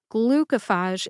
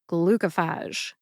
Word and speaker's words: Glucophage: for further clar ification I have heard glucophage pronounced glucophage as well I just wanted to double check my facts so I called and I got my answer glucophage is how the drug sponsor calls it therefore I'm going with glucophage again the spoken pronunciation is glucophage thank you for joining